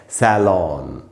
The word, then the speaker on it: salon: और फिर जो वर्ड है वो है SALON, और इसका ब्रिटिश इंग्लिश में उच्चारण है सैलॉन, सैलॉन।